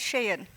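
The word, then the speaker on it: Shein: them or hate them Sheen comes to mind could pronounce as Shen and what they've done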